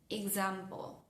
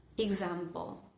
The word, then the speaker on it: example: Example. Example. Fíjense que también está esa vocal accesoria suavecita.